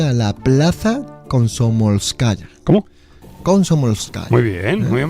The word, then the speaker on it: Komsomolskaya: Komsomolskaya. Muy bien pronunciado, Azuaga.